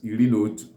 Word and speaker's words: iri na otu: When 10 plus 1, that is 11, stands alone, it's pronounced as Iri na Otu.